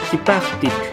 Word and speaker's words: Xipachtic: Sin embargo, en esta sílaba la U es muda y la H pasa a ser un saltillo. Por ejemplo, Xichtic, Xipachtic.